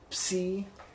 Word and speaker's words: psi: So if you can pronounce it like that, psi. Try and keep the p in there, psi.